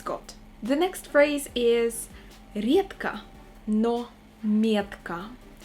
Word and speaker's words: редко: The next phrase is редко, но метко. Be very attentive with the word редко, because we pronounce the letter D as T.